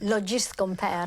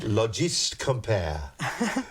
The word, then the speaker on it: Logist Compare: Logist Compare. Logist Compare. Needs a French accent, actually, doesn't it? Logist Compare. Italian. It does, or an Italian accent, Italian even better.